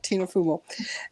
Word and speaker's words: Fumo: my grandma's norway yeah no it's so it's pronounced fumo so tina fumo it's uh italian it's um oh i like that yeah like um like uh fumey in french smoke that's what it means yeah tina fumo right yeah i'm glad you said it i